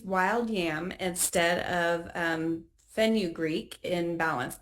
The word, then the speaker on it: fenugreek: Why do we use wild yam instead of um fenugreek in balance? I have no idea if I even pronounced that right, but I'm sure you'll correct me, Steve. You pronounced it right.